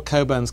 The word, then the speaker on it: Cockburn: I'm not responsible, but all Coburns carry this mission through life: is your name is spelt Cockburn, but you pronounce it Coburn.